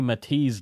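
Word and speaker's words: Mitisz: Yeah. Matisse is spelled M-I-T-I-S-Z.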